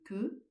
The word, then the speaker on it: que: Bien prononcer le e de que et non pas et ne pas dire tandis que je chemine.